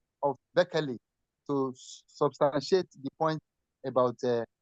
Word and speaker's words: Berkeley: You can see, Real of Beckley. Real of Beckley. L of Beckley is spelled, Real of Beckley is spelled EARL of Beckley. Beckley is spelled BERKELEY.